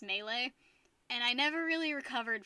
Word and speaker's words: Melee: smash bros melee mealy i always pronounced it melee as a kid because i didn't know how to pronounce it and then i learned it was pronounced melee and i never really